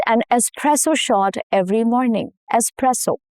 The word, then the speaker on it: espresso: Espresso. No X sound at all. The S stays intact and the stress falls on the second syllable, which is press.